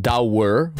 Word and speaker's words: Douwe: My name is Douwe, pronounced Douwer, from the Netherlands, and I race bikes.